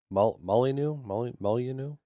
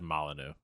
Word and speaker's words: Molyneux: Molyneux, I think is how you say it. I've always said Molyneux.